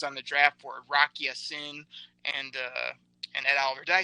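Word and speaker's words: Rock Ya-Sin: Rock Yasin.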